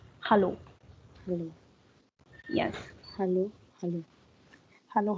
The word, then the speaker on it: hallo: This is hallo. That means hello in English. Hello. Hello. Hello. Hello. Yes. Hello. Like yes, in English, like we say hello, a, but in German we say hallo. Hallo.